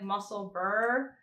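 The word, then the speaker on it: Musselburgh: let's see Ravelry mosselberg kid told me that I haven't been saying it right that it's like muscle Burr but like really do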